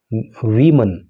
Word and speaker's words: women: हो रही है, और इसका प्रोनाउंसिएशन होता है वीमन, जब बहुवचन में होगा तो प्रोनाउंसिएशन होगा वीमन, और जब एक वचन